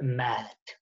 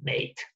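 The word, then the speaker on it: meat: So one would, in Chaucer's life, the meaning to encounter would have been pronounced met, and the other, the flesh, would have been pronounced mat. Met and mat. Okay, two different sounds. By Shakespeare's time, to encounter would have become meet, and the other would have become mate.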